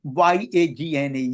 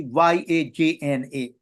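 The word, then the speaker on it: यज्ञ: I tell you what the difference, because the Yagna Gya is a really is a compound sound with the J and N together. So it's not easy to pronounce. So that's why they in the other languages, Hindi, I know it has been Yagna, Yagna. But really authentically it's be Yajna.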